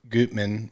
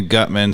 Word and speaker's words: Gutman: problem and dave yeah most importantly gootman which i think is how you do pronunciation yeah we've been effing that up sorry gootman we've been calling you gutman sorry i've been following